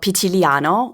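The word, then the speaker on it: Pitigliano: Um so I live in a town called Pitiliano which is spelled with a mysterious G in there. So it's called Pitig Laniano and it's in the very very southern part of Tuskanyany.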